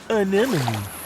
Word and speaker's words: anemone: Anemone. Anemone. Anemone. Anemone. Hey, I got it. Great pronunciation, Dean.